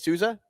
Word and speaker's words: Souza: Souza or yeah that's how you say it Souza yeah yeah yeah yeah he made that sick